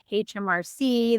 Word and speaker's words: HMRC: It's called HMRC. They pronounce their H's as H's.